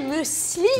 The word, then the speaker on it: muesli: Alors, dire muesli. muesli. Voilà, ok, Ouais. je le dis bien.